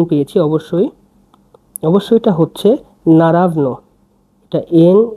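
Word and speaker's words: naravno: হচ্ছে আমি নতুন পেয়েছি অবশ্যই অবশ্যই এটা হচ্ছে নারাবন এটা এন এ আর এভি এন ও নারাবন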